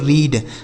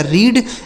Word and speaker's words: read: Next word है आर ई ए डी। इसे पढ़ते हैं दोस्तों रीड। आर ई ए डी। इसे पढ़ा जाएगा रीड।